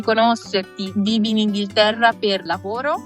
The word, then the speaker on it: lavoro: Vivi in Inghilterra per lavoro? How can I say in Italian? Prima per studiare e poi per lavorare. Perfetto. E avete un buon lavoro. The V is V, like in French. Esatto, lavoro.